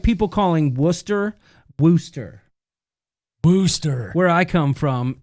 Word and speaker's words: Wooster: like people calling worcester wooster booster where i come from worcester ohio everyone calls it wooster so liz says key